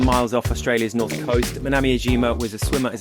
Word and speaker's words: Manami: MANAMI, I think you pronounced it. MANAMI, or yeah.